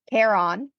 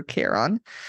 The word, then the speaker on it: Chiron: And so and with like a promise that they'll ask Hades for a raise for Kiron. Um for K. Kon. The audio book. Like Karen but on.